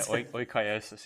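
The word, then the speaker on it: oikeiosis: I was looking forward to using the word oikiosis. Did I pronounce that properly? I believe so, yeah. Oikiosis, yeah.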